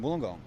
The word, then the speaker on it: Wollongong: saving Isuzu but the main one is destination Wollongong am I saying it correctly yep destination gong